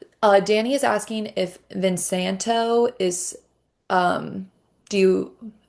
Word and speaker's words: Vin Santo: Uh Danny is asking if Vin Santo is um do you v i n s a n t o is that how it's spelled?